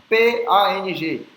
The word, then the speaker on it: Pang: Próxima palavra, P-A-N-G. O P tem que ser soprado, então é P, P. E o A-N-G vai ter o som de AG, AG. A gente não fecha a boca, é AG. Então é Pang, Pang, Pang, Pang, Pang.